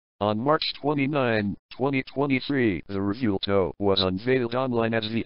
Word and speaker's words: Revuelto: The Italian automaker Lamborghini produces a mid-engine plug-in hybrid sports car known as the Revuelto, Spanish pronunciation, Revuelto.